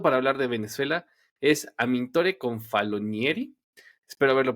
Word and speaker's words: Amintore Confalonieri: Y bueno, pues mi invitado para hablar de Venezuela es Amintore Confalonieri. Espero haberlo pronunciado bien.